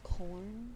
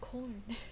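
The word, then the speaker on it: Quorn: They're vegan nuggets called corn.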